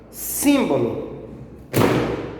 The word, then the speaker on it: símbolo: Símbolo. Vamos lá. Símbolo. Símbolo. A sílaba tônica é no sim, porque é a sílaba mais forte, sim.